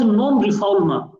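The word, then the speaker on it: non-refoulement: as known refoulement but since it is a french terminology so we in english also pronounce as per the french pronunciation requirements so it is pronounced as non-reformer it means there should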